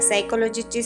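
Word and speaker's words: psychology: मानसशास्त्र म्हणतो आपण त्याला सायकॉलॉजीची स्पेलिंग पी ने स्टार्ट होते परंतु आपण उच्चार करताना सायकॉलॉजी करतो सायकॉलॉजी म्हणजे मानवाच्या त्रुटी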